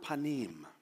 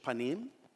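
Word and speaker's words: פנים: Now, the Hebrew word for presence is the word panim. P-A-N-I-Y-M is how you'd probably spell it in English, panim.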